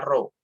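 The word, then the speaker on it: rho: dengan perut dibacanya rhs tulisannya erhao tapi dibacanya roh ya rohingya adalah massa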